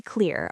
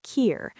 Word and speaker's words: clear: For clear, the L is important. Clear, not kier. So clear, a little stretch.